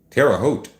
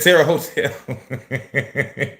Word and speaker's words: Terre Haute: Terre Haute. Terre Haute.